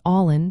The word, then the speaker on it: álainn: One of the most delightful words to learn is beautiful, which translates to allin in Irish Gaelic. The pronunciation of allin is all in.